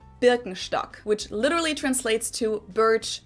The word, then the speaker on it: Birkenstock: the world nowadays, and it's natural that people pronounce it with their native accent. So English speakers usually say Birkenstock. In German, we say Birkenstock. Birkenstock, Birkenstock, which literally translates to birch stick.